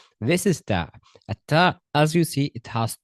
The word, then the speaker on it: ت: How how to pronounce a T clearly? The tip of your tongue. The tip of your tongue touches the arrow just behind the upper front teeth.